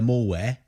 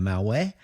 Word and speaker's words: malware: even though your machine might be full of malware mware you know you've got to say it right else the technician that's trying to rid you of your mware malware won't know what you're talking about so I just if